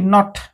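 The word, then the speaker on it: knot: टी पडिबो night तो के अछि के को साइलेंट करिकरी NOT नॉट किंतु केटा रहिबो नॉट row earth Gath नॉट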